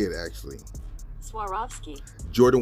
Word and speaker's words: Swarovski: Air Jordan one retro that I'm going to butcher the name so this is how you say it actually Swarovski Jordan 1 high is releasing in the summertime